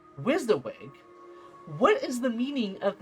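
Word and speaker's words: WYSIWYG: supposedly pronounced as wizawig.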